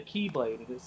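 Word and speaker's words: χ-blade: No, it's the key, but it's pronounced the Keyblade.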